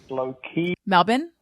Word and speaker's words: Melbourne: that's enough I love that we're reaching Melbourne Melbourne that's how they say it is Melbourne don't